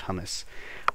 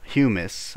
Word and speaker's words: humus: uh dirt very simple or humus I don't think it's pronounced hummus humus uh please don't kill